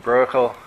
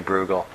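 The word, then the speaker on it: Bruegel: Peter bugal the Elder some people pronounce this name brel in Holland they say broel but I say bugal anyway the uh Peter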